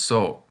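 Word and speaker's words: そ: As you can see, this kana looks like a backwards S with an O underneath, so it's pronounced so.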